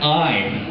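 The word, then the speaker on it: aye: He said I. Like, you know, it sounds like I, but it's not. It's spelled A-Y-E.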